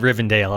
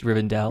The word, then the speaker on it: Rivendell: know shrunk three sizes it's it shrunk around rivendale and that's it yeah he's calling rivendale what's it called triggered imladrus did I say it wrong wait yeah not Dale but Dale he's Rivendell yeah I should know that I am I'm